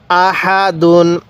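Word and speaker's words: أَحَدٌ: দাল দুই পেশ দুন আহা দুন আহাদুন এই হা টা উচ্চারণের সময় মুখ দিয়ে হালকা বাতাস বের করব তাহলেই এই হাটা সহি উচ্চারণ হবে তাহলে হাদুন এরকম ভাবে শিখবো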